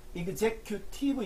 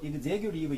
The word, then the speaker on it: executive: T는 T 발음이 나도 되고 리을 발음이 돼도 상관이 없습니다. 그래서 executive 이래 되고 executive 이래 돼요.